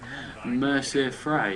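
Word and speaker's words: Mercer Frey: can't help you out so it's just youti Mercer fry if again that's how you pronounce his name um you can say whatever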